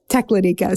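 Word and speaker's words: Teklanika: all along its banks I had trouble figuring out how to pronounce this River just so you know I ended up calling multiple alaskans and they said tecladica so so we're going with that even though um the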